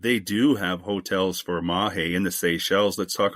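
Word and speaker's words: Mahé: And you mentioned the main island it's Mahe, right? That's how you pronounce it? Yes. And you have these two ones that you have all the infrastructure. So Mahe, which is the biggest one, and the one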